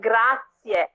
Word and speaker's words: grazie: looked weird if you say that it's like grass yeah yeah yeah and it's not grazie you're gonna